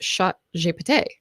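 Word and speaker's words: ChatGPT: don't speak French but apparently in French it's shot je which is how they say it but if you speak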